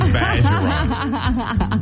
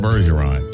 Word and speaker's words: Bergeron: Now, you got to say it like Mr. Bageron. He says Bageron. But all of us, you know, us Yankees up here in North Louisiana, we call it Bergeron.